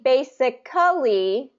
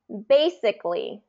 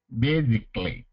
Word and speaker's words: basically: perfect okay good so it's not going to be basically it's going to be basically basically good okay it's not